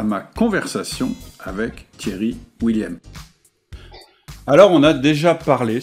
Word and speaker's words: Willieme: Donc, moi, je le prononce Thierry William. Effectivement, dans le Nord, on dit plutôt William, mais mon nom est plutôt d'origine de l'Est, donc on dit William.